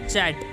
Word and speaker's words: Kyat: Myanmar Kyat is pronounced as Chat.